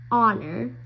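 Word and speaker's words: honour: an in the starting because our honor honest here we don't say the H it's not pronounced it's silent so an hour an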